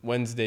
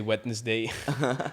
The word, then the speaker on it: Wednesday: and you pronounce uh instead of Wednesday you say Wednesday because that's the way it's spelled um but yeah so